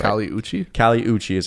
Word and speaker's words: Kali Uchis: Kali Uchis is how you say it.